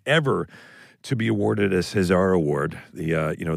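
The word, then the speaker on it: César: the first American ever to be awarded a Cesar award the uh you know the French Oscars appreciate the pronunciation on that yeah thank you Cesar say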